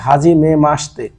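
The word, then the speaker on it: はじめまして: মানে অনুশীলন বা প্র্যাকটিস রেনসুর মধ্যে আমার যে প্রথম যে ওয়ার্ডটা আছে এটা হচ্ছে হাজিমে মাসতে হাজিমে মাসতে হাজিমে মাসতে এখানে হওয়ার কথাছিল হাজিমে মাশিতে মূলত শীতেই কিন্তু উচ্চারণের সময় হাজিমে মাসতে মাসিতে হ্যা হাজিমে মাসতে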